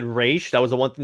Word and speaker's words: Ra's: that's the reason why everyone calls them Roz Al ghoul is because of this film yeah I thought it was kind of funny when Al ghoul showed up in Arrow and they actually said race that was the one